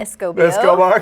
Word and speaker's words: Escobar: Escobar, because I can never pronounce it.